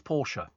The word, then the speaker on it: Porsche: It's Porsche. Porsche is the car. That's right. Yes, absolutely official. It's Porsche.